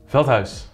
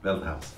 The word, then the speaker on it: Veldhuis: Veldhuis. Veldhuis.